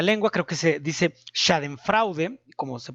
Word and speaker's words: Schadenfreude: no domino la lengua, creo que se dice Schadenfreude, como se pronuncia correctamente, pero significa el placer frente al